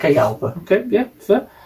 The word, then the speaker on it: Jalpa: And then we've got the Lamborghini Jalpa. Jalpa. Even though it's spelled Jalpa.